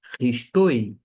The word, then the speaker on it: Χριστῷ: Note que esse iota subscrito, que é esse i embaixo do o, da letra O, não é pronunciado, pelo menos por parte deste. Se você pronunciar, Ristoi. Se você não pronunciar, Risto.